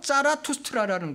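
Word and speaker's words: Zarathustra: 그러니까 조로아스터의 독일어 관용 발음이 바로 짜라투스트라라는 거예요.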